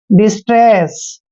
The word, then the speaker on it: distress: देखिए डी का उच्चारण हम डे कर रहे हैं, आई को छोटी की मात्रा पढ़ते हैं, और एस का उच्चारण हमने से करना है, और टी को टे पढ़ते हैं, आर को रे पढ़ते हैं, और ई को ए की मात्रा पढ़ते हैं। डबल एस का उच्चारण हमेशा से करेंगे, डिस्ट्रेस।